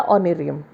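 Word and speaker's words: honorarium: या कुछ भी, या ऑनरेरियम। ऑनरेरियम में एच साइलेंट है, सबको पता होगा प्रोनाउंस करना ऑनरेरियम।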